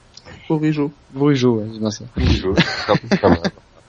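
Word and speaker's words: Bourigeaud: J'arrive pas à le prononcer. Bourigo. Bourigo, ouais, c'est bien ça.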